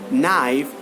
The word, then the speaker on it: knife: K is absolutely silent here the correct award pronunciation is like no knock knife night and knowledge no knock knife night and